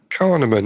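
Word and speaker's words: Kahneman: And and the concept of cognitive bias was introduced by this chap called Daniel Kaneman. I can't Carnean. Is that Carnean? Yeah.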